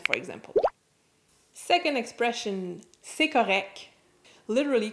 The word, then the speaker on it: correct: Note that the T is rarely pronounced.